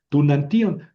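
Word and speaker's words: τοὐναντίον: Tunantion es lo mismo que to enutión. To enantion.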